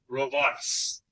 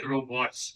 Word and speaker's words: robots: जैसे एक प्लूरल का सेंटेंस ले लेते हैं, मोहित मेक्स रोबोट्स। रोबोट नहीं, रोबोट्स, इसका सही प्रोनाउंसिएशन क्या है? रोबोट्स।